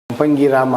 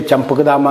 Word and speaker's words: ಚಂಪಕಧಾಮ: ಕಾರಣ ಅನ್ನೋದನ್ನ ಇಲ್ಲಿ ಕೇಳಿ ಸಂಪಂಗಿ ರಾಮ ಅಂತ ಚಂಪಕಧಾಮ ಈಗ ಈ ಹಳ್ಳಿ ಜನಕ್ಕೆ ಚಂಪಕಧಾಮ ಅಂತ ಹೇಳೋಕೆ ಉಚ್ಚಾರಣೆ ಮಾಡೋಕೆ ಬರಲ್ಲ ಸಂಪಂಗ್ರಾಮ ಸಂಪಂಗ್ರಾಮ ಇವಾಗ ನೀವು ಸಂಪಂಗಿ ಪೂಲ್